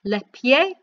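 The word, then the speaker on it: les pieds: got a head there we've not actually pronounced the d or the s at the end of there so it is again pronounced lepier then for neck and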